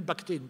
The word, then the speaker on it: Bakhtine: travaux du formalistes russes mikhaïl bakhtine pour le prononcer à la française et c'est cela consiste